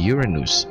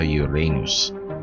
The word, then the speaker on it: Uranus: Parehas tama ang mga pronunciation na ito. Pero ang mga astronomers at karamihan sa scientific community ay mas gustong gamitin ng Uranus kaysa sa Uranus.